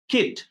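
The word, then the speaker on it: kit: ঠিক একইভাবে আমরা যদি বলি, দেখো এই জায়গাতে কে আই টি, কিট, আর এই জায়গাতে কে আই টি ই, এটা কিন্তু আমরা বলছি কি, কাইট।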